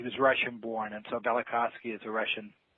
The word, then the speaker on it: Velikovsky: the is that pronounced Velikovsky ended Velikovsky heresies okay so that v is kind of silent that's right it sort